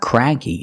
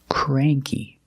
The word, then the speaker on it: cranky: have this word cranky it's not cranky it's cray cranky cranky means grumpy or